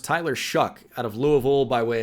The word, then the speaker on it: Shough: And speaking of quarterbacks going way, way ahead of where I thought they could go, Tyler Shough. That's how that's pronounced. Tyler Shough out of Louisville by way of Texas Tech, by way of Oregon.